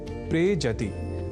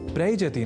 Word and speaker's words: प्रेजति: दोनों के मेल से शब्द बनता है प्रेजति। प्रयजति नहीं।